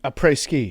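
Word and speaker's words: après-ski: A pre ski. A pre a pre ski rhymes with t for a reason.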